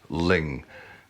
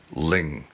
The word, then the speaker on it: Luing: i discovered later that the pronunciation of the island is actually ling so every time you hear me say louis please hear in your head the correct pronunciation ling well here it is